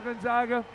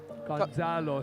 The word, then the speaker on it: Gonzalo: strong first round for Gonzaga. Yep. And a lot for Brandon to think about coming into the second round. Gonzalo, sorry, saying his name wrong.